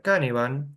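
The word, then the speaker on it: Cynefin: Se escribe Cinefin, se pronuncia, me dijeron que se pronuncia Canavan, ¿sí?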